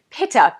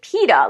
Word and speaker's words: Pitta: about the pitta dosha Pitta TI TT a oftentimes when I am teaching Ayurveda a lot of my students will pronounce it PITA like pita bread it's not like pita bread it's Pitta p i t t